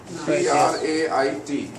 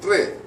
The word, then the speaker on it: trait: T-R-A-I-T. In American style, trait. Last T is silent. British style, they will say tray.